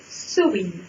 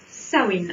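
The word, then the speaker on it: Samhain: En fait, ce mot se prononce Sowin ou Sawin.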